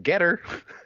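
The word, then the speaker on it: Gettr: Recently, the Trump team has launched their own new social media platform, which I believe is pronounced Getter.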